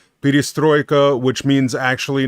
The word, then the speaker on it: perestroika: openness and they i most americans say perestroika but it's p destroyed a peristroika which means actually not